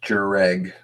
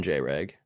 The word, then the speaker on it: J-Reg: Oh, it's pronounced Jereg. Oh, my bad. I call him J-Reg.